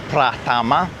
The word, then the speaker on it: Pratama: So, the name of this road is Jalan Pratama. So, uh with that pronunciation, just remember those the way the A is sounded in Indonesian. Pratama.